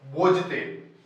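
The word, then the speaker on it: bougette: भाषा होती है फ्रांसीसी भाषा के शब्द बोते इंग्लिश में इसकी स्पेलिंग होती है बी ओ यू ji double T बोते से हुई है जिसका अर्थ होता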